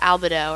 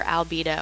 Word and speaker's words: albedo: energy than others that's called albido or albedo i've heard it pronounced both ways uh that is the